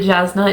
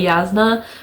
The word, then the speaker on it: Jasna: Like, I'm positive that Jasna is not how you're supposed to pronounce it because I've heard people say Yasna, but I absolutely refuse. Like, no. It's spelled with a J.